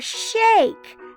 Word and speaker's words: shake: a there we go and a silent e at the end to make that one say a shh and then there's a silent E doesn't say anything all right Shake we're